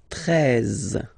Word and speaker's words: treize: Then now if you combine this E and E, you get the sound E, really open. Treize, treize.